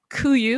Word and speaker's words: KUIU: Zack, who is Color Material Manager at KUIU. Am I pronouncing that right?